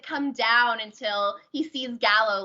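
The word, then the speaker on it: Galo: Gallo, thank you.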